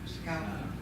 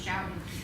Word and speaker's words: Schoten: Scout. Scout, thank you. I thought it was shouting. I've heard it pronounced a lot of different ways, but It's German.